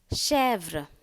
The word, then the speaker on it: chèvre: E accent grave, E-I, A-I, E-T, E circonflexe is pronounced as A. Chèvre.